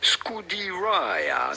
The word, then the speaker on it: Scuderia: pronounce it would definitely be Scudiraia.